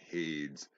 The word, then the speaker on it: Hades: Now remember, Zeus, Poseidon, and Hades, they call them Hades. That rhymes with ladies. There's no I-E-S at the end of that. They're mispronouncing that on purpose. Hades rhymes with shade, right?